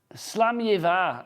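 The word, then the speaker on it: Slàinte mhath: Slam Yiva, apparently that is pronounced.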